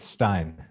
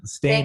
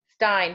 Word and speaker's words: Stein: I would go with Stein okay stain is a very common way that people pronounce it but it's time Stein perfect thank you so